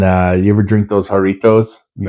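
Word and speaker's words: Jarritos: I call them gertos, but it's pronounced harito.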